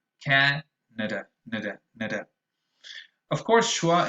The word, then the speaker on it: Canada: the matter is that the first vowel sound is very strong. It's actually an ash, ca, but the other two are usually very weak. The other two are schwas. So you say Canada, Canada, nada, nada.